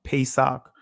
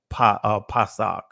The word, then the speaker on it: Pesach: Now, I know in the Israeli it's pronounced Pesach, but when you go to the primitive root of this word, you'll see Pasach.